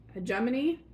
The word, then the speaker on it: Hegemony: So, and I apologize if I pronounced this name wrong again. It's Hegemony.